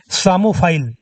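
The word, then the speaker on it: psammophile: का एक वर्ड है सामोफाइल, जिसमें पी से स्टार्ट होता है, सामो फाइल। ठीक है, इसको इन्होंने स्पेल किया है और इन्हें टाइटल मिला है। यहाँ पर पी साइलेंट है।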